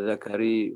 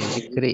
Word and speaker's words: zikri: Bacanya bukan Zakari, Zikri ya. Zikri.